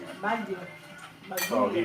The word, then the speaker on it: Baguio: What is Which is the proper way of pronouncing it? Baguio.